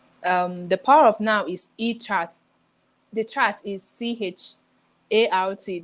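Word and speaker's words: Eckhart: The Power of Now is E-Chart. The chart is CHART. Don't mind me, I don't pronounce like the Americans.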